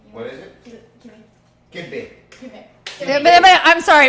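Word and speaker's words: kibbeh: Kibbe.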